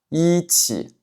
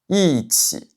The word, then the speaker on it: 一: Donc ça va pas être "i", ça va être "i". "i" Par exemple, ici, ça ne se prononce pas "i tsi", ça se prononce "i tsi".